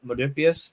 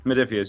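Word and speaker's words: Modiphius: And then, uh all multiple of the How do you pronounce their name? Modifius. Medifius.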